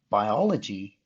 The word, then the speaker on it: biology: Biology, you might want to say, oh, that is a diphthong, right? It's not. It's the other way around. Bio. We actually do say it as two separate sounds.